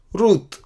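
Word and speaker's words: רות: रूत तो रूत ही है, ये दीर्घ है इधर, रूत।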